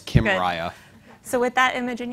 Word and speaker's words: Kymriah: It's as if Kim Kardashian and Mariah Carey got married. Okay. So it's Kymriah.